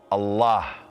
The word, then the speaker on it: Allah: Allah is the most offre repeated name in the Quran and Sunnah appearing in the Quran some 2,724 times it is pronounced a l exhale with love Allah it's the name that's